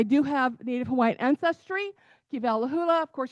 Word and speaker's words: Kivalahula: Kalahula, of course, there's no V in the Hawaiian language. So, it's a lot like Havi. Uh, would be spelled like